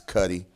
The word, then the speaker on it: Kutti: And I put the pronunciation on Facebook because a lot of folks, they don't quite get my last name, but it's Kutti.